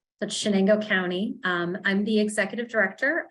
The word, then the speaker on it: Chenango: So It's Chenango. So it sounds like SH rather than CH. That's Chenango County. I'm the executive director of Chenango Health Network.